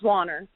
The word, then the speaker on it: Wanner: How do we pronounce that? Wanner or Wanner? It's Wanner.